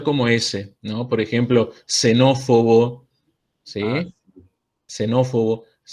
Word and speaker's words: xenófobo: griegas por lo general nosotros van a vamos a pronunciar como ese entonces xenofobia xenófobo si se van a pronunciar